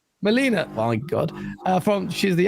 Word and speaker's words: Melina: We met Melania or Melena. How do you pronounce her name? Melina.